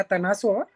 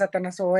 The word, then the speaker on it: Atanassova: En efecto, mi apellido realmente originalmente se pronuncia Atanasoa, pero pues Atanasoa es como se ha posicionado aquí en medio